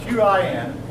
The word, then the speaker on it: Qin: Now, the Qin dynasty, spelled Q-I-N, and I'm going to erase some of this.